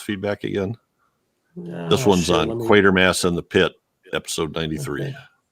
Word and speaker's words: Quatermass: Quatermass rhymes with crater smash, not quarterstaff.